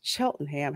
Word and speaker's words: Cheltenham: believe it was called um I believe properly pronounced as Cheltenham however in Philadelphia we call it Cheltenham so